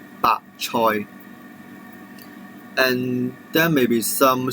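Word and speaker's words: 白菜: Then it is some Chinese cabbage, and it's pronounced as 白菜, 白菜.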